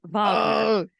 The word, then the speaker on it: Wagner: Wagner. Oh, that's a typo on their part. I No, copied and pasted that. Is it It's spelled it's with correct, but you pronounce it Wagner.